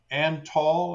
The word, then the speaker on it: Antal: Colonel Antal. That's spelled A, N as in Nancy, T as in Tango, A as in Alpha, L as in Lima.